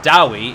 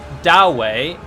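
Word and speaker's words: Dawi: the more interesting one, I always thought that Druki is the well-established name of the Dark Elves, and Dowie is the well-established name of the Dwarves. But I've heard it pronounced Dowey and Druchi.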